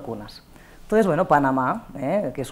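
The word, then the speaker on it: gunas: Aunque se escriba con G, seguimos pronunciando una K o una C, ¿no? Pasa que, bueno, realmente cuesta porque, claro, el cambio de la grafía nos lleva al guna, ¿no?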